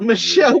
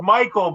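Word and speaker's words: Micheal: fuck Michelle no it's Michael but I spelled my name differently so everybody thinks I just saw you here the I'm sorry differently but spelled like Michelle and it's Michelle well no because my name spelled Mi i c h e a l um I got Mitch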